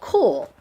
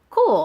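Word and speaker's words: Kühl: sell quickly and well it's called cool but it's spelled k u HL cool I think is how you pronounce it and their men's pants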